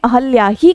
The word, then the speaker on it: अहल्या: अहिल्या अहिल्या व्याकरण की दृष्टि से अहिल्या पूरी तरह से गलत शब्द है बल्कि शुद्ध रूप से जो लिखा जाता है वो अहिल्या नहीं बल्कि अहिल्या शब्द हम लिखते हैं और उच्चारण भी हमें अहल्या ही करना चाहिए।